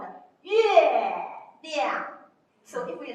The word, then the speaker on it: 月亮: Okay, we call it 月亮. So if we like, they repeat after me. 月亮. 月亮.